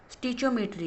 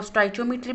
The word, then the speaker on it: stoichiometry: आज हम डिस्कस करेंगे students class nine chemistry new book chapter number four स्टिचियोमेट्री को। स्टूडेंट्स आप इसको डिफरेंट तरीकों से प्रोनाउंस कर सकते हो। आप इसको स्टचियोमेट्री भी बोल सकते हो और स्टिचियोमेट्री भी आप इसको बोल सकते हो।